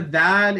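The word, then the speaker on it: ذال: So the letter Dhaal is produced when contact is made between two parts. Number one, the front part of the tongue and the edges of the upper teeth.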